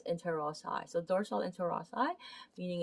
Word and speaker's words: interossei: to be talking about the dorsal intel ross eye or interossei um depending on how you pronounce it i i i pronounce it as interozai so dorsal interossei meaning